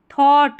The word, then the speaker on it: thought: थॉट, THOUGHT को थॉट पढ़ते हैं, याद कर ले, थॉट, ठीक है, थॉट, GH साइलेंट होता है यहाँ पर, थॉट, FUL, फुल, थॉटफुल।